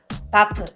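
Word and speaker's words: HBAF: H는 묵음이야. 바프.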